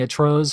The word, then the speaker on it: Atroz: So my name actually is atrocious, just in Spanish. Oh. Yeah. So if you really want to know how it's pronounced, you can just go to like Google Translate, type in atrocious, and then look at the Spanish version and hit the listen Atroz.